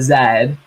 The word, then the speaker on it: Z: I do appreciate that that only works in the American pronunciation of Z as opposed to zad yes that's true quote